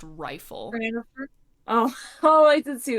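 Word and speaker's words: Reighfyl: this out it's like r e i g h f y l pronounced rifle oh oh I did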